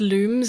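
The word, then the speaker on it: Lums: is still great because apparently they're pronounced looms like luminosity which is why I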